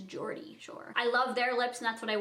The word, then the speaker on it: Geordie Shore: I used to say Gordy, but I think it's Geordie Shore.